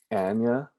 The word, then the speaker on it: Anya: you could just hear anna taylor joy just singing downtown you know her name is actually pronounced anya anya sorry that i found